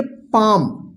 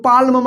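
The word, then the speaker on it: palm: पी ए एल एम, देखिए एम से पहले एल आया है, देखिए तो यहां पे एल क्या होगा साइलेंट होगा, इसको पढ़ेंगे पाम, पाम का मतलब होता है हथेली, इसको पाल्म मत पढ़िएगा, ठीक है।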